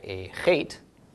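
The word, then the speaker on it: אח: Okay, then an aleph with a kametz, followed by a chet. Aleph is silent, kametz makes the a, chet is ch, so ach.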